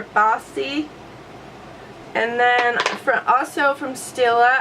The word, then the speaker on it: Baci: I've been loving the color Baci, and it's spelled B-A-C-I. And I'll go ahead and swatch it over here because I need to remove the rest of the swatches. So that is Baci or Bossy.